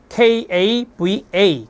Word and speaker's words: KAVA: KAVA, 그래서 카바라고 읽습니다.